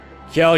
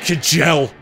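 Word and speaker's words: Kjelle: enemy phase all right Kell you're fine Kell your F wonder how many people initially pronounced her name kajel oh yeah no my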